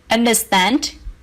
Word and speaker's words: understand: In number 3, understand, stress the third syllable.